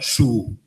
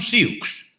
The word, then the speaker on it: Sioux: Ninguén se decatou de que Sioux se pronunciaba su, porque viña do francés, etcétera. Su, non Sioux.